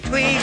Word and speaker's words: Tweeg: Say Tweeg when you're speaking to me. Not Twizzle or Twick or Twinkle or Twook, Tweedledum or Tweedledee-dee. It's Tweeg. Tweeg! T-W-E-E-G. It's a very simple word with but one syllable in toto.